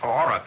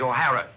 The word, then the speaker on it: O'Hara: do you remember saying my name is not aurora it is o'hara here mr o'hara yes